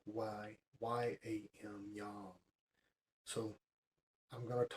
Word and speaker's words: yam: Its sound is yam, Y-A-M, yam.